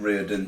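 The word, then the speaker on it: Riordan: Reardon, R-I-O-R-D-A-N, Reardon, is it Reardon? Reardon, yeah, we'll go with that.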